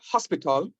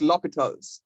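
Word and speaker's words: L'Hôpital: It's not hospital. And a L rule. Well, if you want to call it the L rule, that's fine. But it's pronounced L'Hopital's, right?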